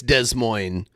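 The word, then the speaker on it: Des Moines: an audit after De Moines. Oh, it's it it's not pronounced de it's Desmo uh in in Washington.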